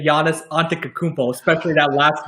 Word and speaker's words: Antetokounmpo: It can either be Poe or Beau at the end.